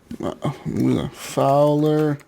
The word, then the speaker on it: Fwlr: Anyways, people, Fowler and Twistix Breakout is our intro song made for us by Fowler and Twistix. And Fowler is kind of weird. It's pronounced Fowler, but it's not spelled Fowler.